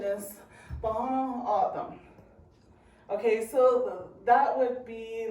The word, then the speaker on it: Tohono: Thaw, like you're gonna thaw a piece of chicken. Nah, I don't want none. Aw, look at my thumb.